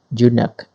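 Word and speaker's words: eunuch: so this word is we pronounce it you knock yes you know we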